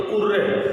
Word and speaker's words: hurrah: अगर कहीं पे कोई स्पीकर होता है hurrah, अगर कोई स्पीकर यूज करता है, इसको हम टुर्रे भी बोलते हैं. टुर्रे और कहीं कहीं इसका प्रोनाउंसिएशन हुर्रे भी होता है। तो उर्रे, इसको उर्रे भी बोलते हैं और इसको हुर्रे भी बोलते हैं।